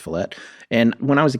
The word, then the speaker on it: Follett: it's by ken falette i used to think his name was follett because that's how it's spelled but yeah that's pronounced fillett and when i was